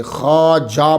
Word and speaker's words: خواجہ: آجامیر کی خواجہ، اس کا تلفظ جو ہے وہ خواجہ ہے، لکھا جاتا ہے خا واو الف اور جیم آگے پھر وہ ہا، تو خواجہ نہیں پڑھیں گے، اسے خواجہ پڑھیں گے، جمع اس کی خواج